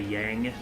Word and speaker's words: Yang: from final fantasy 4 i used to say yang but like yang makes sense that would actually be the correct like chinese pronunciation if that's what we're going